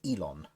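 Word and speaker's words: Yilon: the bottom reading uh y-i-l-o-n drag snout which is pronounced elon y l or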